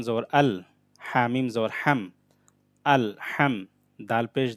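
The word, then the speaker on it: ٱلْحَمْدُ: হাম, দাল পেশ দু, আল হামদু। লাম লাম জের লিল, লাম খাড়া জবর লা, লিল্লা, হাজের হি, লিল্লাহি। আলহামদু, এটা হাটা গলার মধ্যভাগ থেকে উচ্চারণ হবে, মানে ভিতর থেকে ভালোভাবে আনতে হবে।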